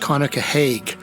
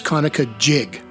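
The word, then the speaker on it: Conococheague: Washington County Maryland I've heard the Creek's name pronounced kukah Haag by non-natives of the region but to modern-day folks who grew up in the territory at drains it's kanuka jig no matter how it's pronounced it comes from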